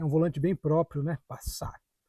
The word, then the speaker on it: Passat: volante bem próprio né passar passar é a pronúncia né original aqui virou Passat clássico com a a nossa pronúncia e outro detalhe interessantíssimo